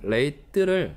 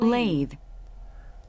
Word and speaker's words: lathe: 여기다 보시면 레이트라는 게 있는데 사람들이 흔히 레이트를 발음을 잘못하는 경우가 많습니다. 실제 레이트의 영어식 발음을 보시면은 lathe 이런 식으로 발음이 됩니다.